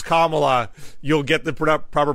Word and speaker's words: Kamala: you go to youtube in Google uh it's Kamala you'll get the proper pronunciation Kamala Kamala Harris yeah I guess the biggest problem